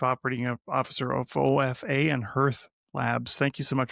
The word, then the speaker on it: Hearth: Hearth actually, but I pronounce it Hearth.